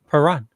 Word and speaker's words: Perron: this again next year, just remember the T is silent in chalet, just like Perron. Perron.